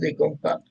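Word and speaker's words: Ik Onkar: And then he depicted his God through an icon, Ekonkar, pronounced as Ekonkar.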